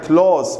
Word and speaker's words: close: اوكي سؤال الرابع why couldn't Sandra get close طلاب هاي close مو close close يعني اقتراب يقترب why couldn't Sandra get close بالاس مو بالزيت تلفظ اس close لماذا لم تستطع ساندرا